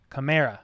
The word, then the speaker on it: Camara: or cammy but yes pronounce like the car but with an a so kamara camara that's what it is